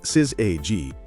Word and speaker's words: syzygy: Pronounced syzygy, it comes from the Greek word for yoked together.